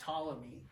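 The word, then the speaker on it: Ptolemy: So Tommy, it's pronounced tamy in the 2 century AD.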